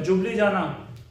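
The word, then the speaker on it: Ljubljana: ऐसे ही जो इधर था नीचे स्लोवेनिया, स्लोवेनिया उसकी कैपिटल है जुबलीजाना, ई साइलेंट है उसमें, ई से स्टार्टिंग है स्पेलिंग की बट बोलते हैं उसे जुबलीजाना।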